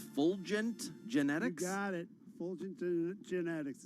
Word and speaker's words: Fulgent Genetics: Wilson, your stock of the day, is it pronounced Fulgent Genetics? You got it. Fulgent Genetics.